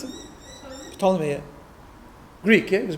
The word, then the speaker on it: Ptolemy: Ptolemy, well, how do you pronounce it? Ptolemy, yeah.